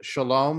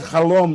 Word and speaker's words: Chalom: One is my name is pronounced Shalom, like Chicago. It's actually meaning not Chalom, like a dream? No, it's actually the French spelling.